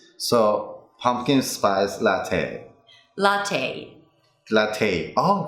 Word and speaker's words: latte: And not te, but te. Take. Oh, really? Right. There are never words that end with Latte. a in English. So it's probably going to be a long A sound. Latte, ballet, cafe. Oh, cafe. Okay. Right? Not a, not cafe.